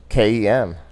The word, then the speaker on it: Jenkem: How do you spell that? Jankum. It's Jenkem.